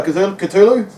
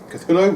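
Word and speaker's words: Cthulhu: Uh, call it Culu. Obviously, it's an instrumental based on the HP Lovecraft creature, Cath Culu, Cthulu, whatever you want to pronounce it.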